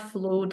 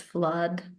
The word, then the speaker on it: flood: post the role play, it's not flood, guys, it's flood. Even Blood. though it is double O, which Ah, normally is pronounced as an U sound, noodle, for instance, but in this particular